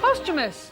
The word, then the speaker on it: posthumous: How should one pronounce posthumous? GG. Posthumous.